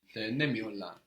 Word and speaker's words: denemiyorlar: And here we see again how that strong accent before the negation really helps you pronounce the entire word. Denemiyorlar. Knowing that you're putting that strong stress before the negation can help the rest of the syllables come out.